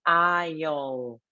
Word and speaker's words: aisle: So, you have to say aisle. Like here, island, right?